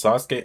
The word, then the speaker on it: Sasuke: So, I spent most of middle school calling Sasuke "Suh-skee".